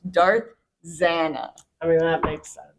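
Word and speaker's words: Zannah: um Darth Zan has been awesome I say Zanna some people say Z you know but it's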